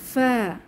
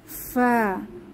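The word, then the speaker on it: ف: গাইন আমাদের পরবর্তী হরফ ফা ফা ফা এর মাখরাজ নিচের ঠোঁটের পেট সামনের উপরের দুই দাঁতের আগার সঙ্গে লাগিয়ে ফা উচ্চারিত হয় আমরা অন্যভাবে বলতে পারি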